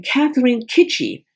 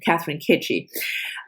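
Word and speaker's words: Catherine Chidgey: Catherine Kitchie. Because I looked up how she pronounces her name, Catherine Kitchie.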